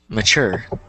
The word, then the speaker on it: mature: manufacture stuff like that like the word um mature it's has the t e so notice how the T makes the sure sound so M mature so it's kind of like